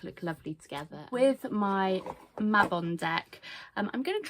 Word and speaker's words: Mabon: of the witch um Mabon or some people call it Mayabon. I'm not sure um but Mabon is how I pronounce it.